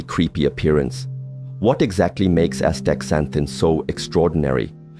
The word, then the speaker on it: astaxanthin: It's called astaxanthin, pronounced astaxanthin.